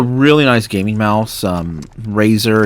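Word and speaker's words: Razer: nice gaming mouse um razor it's spelled r a z r is the company name and uh that should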